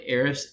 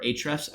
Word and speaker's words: Ahrefs: into backlinks this is my eris and or ahrefs account however you want to pronounce it i will say this